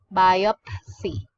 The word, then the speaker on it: biopsy: you say the word biopsy yeah so when you pronounce it it should we should emphasize the P sound so it should be by up biopsy yo and then see and see it biopsy so are there words